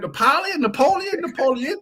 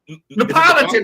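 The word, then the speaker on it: Neapolitan: Is it Napoleon? How do you pronounce it? Napolitan.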